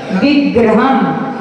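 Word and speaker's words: विग्रहम्: एतत् स्वरूप मध मध्य विवर्तिनोहि यत् विग्रहम। वी के बाद में गिरा आया है तो आधा अक्षर गा का उच्चारण करेंगे, विग्रहम।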